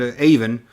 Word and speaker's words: Avon: I know, it's spelled like Avon, but Avon.